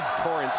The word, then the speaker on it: Torrance: Torrance Kinsey. His first name is spelled Terrence, but pronounced Torrance.